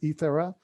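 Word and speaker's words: Egeria: nun or holy woman called igera some people pronounce her name ethera who was here in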